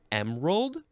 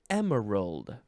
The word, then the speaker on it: emerald: You can say emerald or emerald.